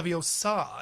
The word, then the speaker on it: Leviosa: this and he would like correct how he pronounced the spell too. He was like it's actually Leviosa and then he would hit like Peralta across you know.